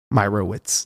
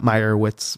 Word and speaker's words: Meyrowitz: I'm like well granted but a lot of people struggle with my last name Meyerowitz not meyerwitz or micro tits take a